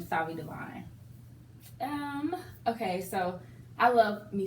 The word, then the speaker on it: Duvin: So I just combined the 2 words And that's how you, pronounced it Divine.